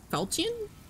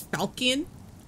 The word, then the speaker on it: falchion: I'm sure some people probably pronounce it as falcon. And totally missed the H.